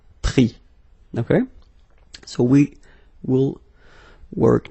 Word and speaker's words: pris: Same thing here, final S not pronounced, so prendre, pris.